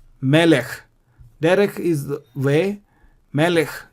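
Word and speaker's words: מלך: Second, the shwa is silent when it occurs under the last letter. Derech, melech. Derech, melech.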